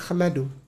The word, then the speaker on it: ahmadu: Itu dibacanya bukan ihmadu sebenarnya ahmadu.